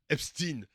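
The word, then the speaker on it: Epstein: Voilà voilà attention à la prononciation Epstine hein.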